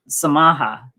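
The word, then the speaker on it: msamaha: in swahili isn't some samaha you sort of it's uh you barely pronounce the m but it's maha and forgive is uh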